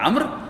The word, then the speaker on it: عمرو: یہ میں نے اس کے ہجے لکھے ہوئے ہیں، عین میم رے واو، اس کا تلفظ ہے عمر، لکھنے میں عمرو ہوتا ہے لیکن تلفظ ہے عمر بن لحی۔ عمر بن لحی بڑا